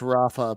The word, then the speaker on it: Rafa: And it is actually pronounced Rafa because I did look it up.